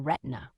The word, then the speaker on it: Retina: about a newborn named Retina, pronounced to rhyme with Christina.